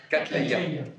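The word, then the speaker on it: cattleya: Another of you doing a, I can't pronounce it, Catalia, the flower. How do you say it? Catalia.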